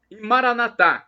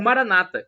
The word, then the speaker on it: Maranatha: para o seu pé Maranatha como dizemos nós católicos com a tônica na última sílaba ou Maranata com a tônica na penúltima sílaba como dizem os evangélicos nossos irmãos protestantes não importa e ficado é o